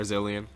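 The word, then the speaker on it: Zilean: sad and he really walked this Dylan or zillion that's how he's pronounced I'm here I'm here - dude yeah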